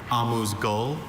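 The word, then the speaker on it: amuse-gueule: I have a few pronunciations. Amus Gul. Amus Gul. Amuse Gul.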